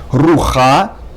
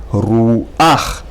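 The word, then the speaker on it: רוּחַ: And instead of saying rucha, which is incorrect, you have to say ruach.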